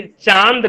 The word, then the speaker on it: चांद: चंद्र बिंदु कब आता है और बिंदु कब आता है खाली? जैसे कि चांद कहते हैं हम लोग, चांद, चांद कहेंगे तो च के ऊपर चंद्र बिंदी होता है, चांद।